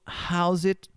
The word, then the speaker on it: How's it going: uma maneira mais fácil e aí você junta tudo como se fosse House it esse apóstrofo S você dá um um uma pronúncia diz então How it Então tudo junto How's it How's it going How's